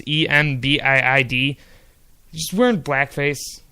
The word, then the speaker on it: Embiid: It's Embiid.